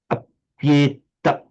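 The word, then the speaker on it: अप्येतत्: With sandhi, the e has become a y. It now counts as a consonant.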